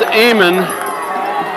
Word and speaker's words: Amon: The name is Amon. It's spelled Amen, but it's pronounced Amon, I understand.